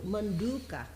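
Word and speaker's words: मण्डूक: do we make the short o actually I think it's long manduka oh yeah yeah yeah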